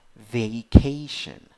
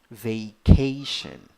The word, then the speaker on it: vacation: stressed so the the the stressed syllable is the second syllable so the pronunciation of the word is vacation vacation number two eight letters